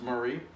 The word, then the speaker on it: Maury: of Williamson County is Murray County it looks like Maury but it's pronounced Murray and next to that